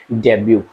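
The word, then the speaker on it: debut: उसको क्या बोलते हैं डेब्यू डेब क्या होता है इसमें आपको मिलेगा टी साइलेंट इसमें टी साइलेंट आपको मिलेगा क्या होता है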